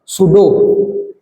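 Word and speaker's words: pseudo: ये यहाँ जो पी है ये साइलेंट है और अपन इसको सूडो इलेक्ट्रॉनिक कॉन्फ़िगरेशन।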